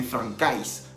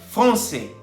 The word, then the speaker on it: français: La AI en francés se pronuncia E.